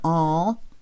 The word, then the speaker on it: awl: hole then you have your all which is spelled awl which is pretty fat